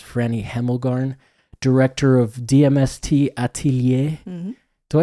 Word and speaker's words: Atelier: Hemmelgarn, director of DMST Atelier. Mm-hmm. Do I say that word correctly? It's French. We love how people say it. People will say Atelier, Atelier. Yeah, Atelier sounds like outlier, which I dig.